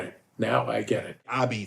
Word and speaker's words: apizza: Abby, that's the way it's pronounced in Naples.